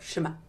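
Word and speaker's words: שמע: You can't, Ashkenazi Jews don't pronounce ayin. It's a silent glottal stop. And so we don't emphasize that, right? There's no vocalization for it, Shema.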